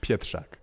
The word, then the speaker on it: Pietrzak: How did you, and just so, because I didn't say this, how do you pronounce that last name? Pietrzak.